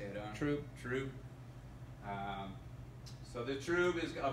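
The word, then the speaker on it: trub: You're collecting, this is called troop. How do you say it, Owen? Troop.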